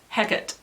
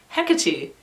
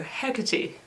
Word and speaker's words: Hecate: Anyway, Hecate is the Shakespearean pronunciation. Hecate is the Greek pronunciation.